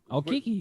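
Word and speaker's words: Okeke: Okiki, you nailed it.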